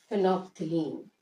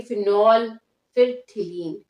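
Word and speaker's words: phenolphthalein: और third one है फिनोप्थिलीन। फिनोप्थिलीन, इसमें फिनोप्थिलीन में एल साइलेंट रहेगा। आप इसे ऐसे नहीं पढ़ेंगे फिनॉल फिर थिलीन, पी भी साइलेंट रहेगा। फिनोप्थिलीन पढ़ेंगे तो एल और पी यहाँ पे साइलेंट, फिनोप्थिलीन।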